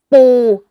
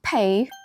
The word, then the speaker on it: ปู: Is A To name It's pronounced Like ปู not P ปู่ น่ะ ชื่อ ไทย